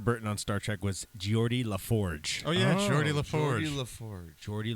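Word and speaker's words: Geordi La Forge: Is that how you pronounce that? Yeah, that's Geordie LaForge.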